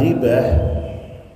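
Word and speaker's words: غيبة: Wal ghibatu ya, kata gibah bikasratil ghaini ya. Cara membacanya yaitu dengan ee mengkasrahkan ghainnya.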